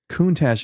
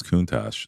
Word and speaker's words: Countach: Yeah, there's plenty of words that have CH at the end that use the hard K.